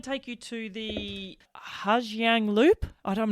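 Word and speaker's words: Ha Giang: And I want to take you to the Hajang Loop. I I'm not sure how you pronounce it. How do you pronounce it? The Hang Loop.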